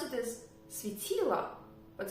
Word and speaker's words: светило: I pronounce it as светило, but it's written as светило. But there is no stress to the last letter O, So it is pronounced as a sound A.